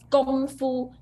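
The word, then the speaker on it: 功夫: Gong, not Kong. Gong is start from G. Gong Fu, first tone. Gong Fu. Yes, that's also a very good point, that it should be pronounced like with a G sound, not with a K sound.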